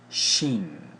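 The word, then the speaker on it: שין: judgment Sheen transliterated as Shh value 300 is pronounced Sheen it means tooth probably a Serpent's Fang and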